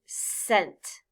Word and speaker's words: scent: When a C stands for this S sound, it is sometimes called a soft C. Look at the first word, scent. The word scent has this consonant C followed by an E. So I will blend the word using the sound S for the letter C.